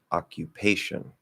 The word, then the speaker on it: occupation: Occupation. So it's secondary stress, occupation, primary stress on pay.